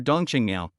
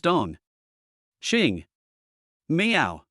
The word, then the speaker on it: Dong Qingmiao: But when she heard Suo call her Dongqinga, her face suddenly turned pale.